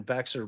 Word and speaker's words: Bexar: slick Now isn't he wait Bexar is be oh that's right Jay and I definitely did a case down in beer before and we were both very upset that the a is silent like where do y'all